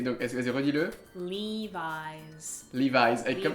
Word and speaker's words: Levi's: est vasy redis-le lev Levis comme si c'était un Z à la fin à la fin lev parce que c'est c'est un un nom posé parce que c'est Levi jeans les jeans de l